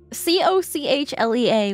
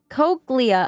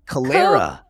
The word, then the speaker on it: cochlea: crazy I think somebody c-o-c-h-le-a whatever however you want to pronounce e e a I did not spell that right Calera no actually cochlea oh it's cochlea Calera cochlea no cochlea Coke